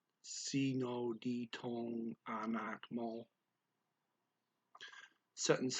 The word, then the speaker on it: ditong: Sino ditong anak mo? The words dito and ang are blended together by the speaker. Sino ditong anak mo?